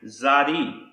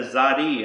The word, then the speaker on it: Tsadi: the Messiah the mark the next word is pronounced zadi and this is the same as the letter the pronunciation of the letter zadi and it means side